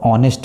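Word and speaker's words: honest: लेकिन ऑनेस्ट यहां पर एच साइलेंट होता है तो ऑनेस्ट पढ़ा जाता है इसको।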